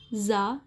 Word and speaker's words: tsar: Once ज़ा Nicholas to came to watch the children dance. ये TSAR जो लिखा हुआ है, इसका प्रोनाउंसिएशन, इसका उच्चारण होता है ज़ा.